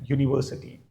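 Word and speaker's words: university: फिर भी ये जो यू का साउंड है that is नॉट a vowel sound, that is a consonant sound. ये एक्चुअली वाई का साउंड है, यूनिवर्सिटी, अंडरस्टैंड.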